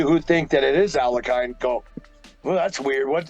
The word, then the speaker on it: Alekhine: It is some like Alekhine, but not Alekhine. It is not yo, but E. Alekhine, Alekhine.